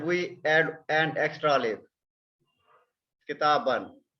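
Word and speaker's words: كتابًا: Kitaban. We simply write this alif, but we don't pronounce this one. It becomes kitaban.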